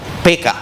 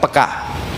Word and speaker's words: peka: Dalam bahasa Indonesia sebetulnya pengucapannya yang benar gaya orang Batak, PK, bukan peka.